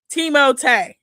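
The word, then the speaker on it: Timothée: Oh, Timote. What? Who's Teimote? That's how he said that's how he pronounced his name because he's French. Teimote.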